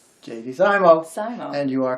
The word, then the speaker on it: JD Simo: say it if i say his name correctly jd zymo and you are correct yes jd simo is